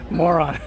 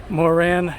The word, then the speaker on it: Moran: Moran, I never know how to pronounce it. I was saying moron. Moran Yachts.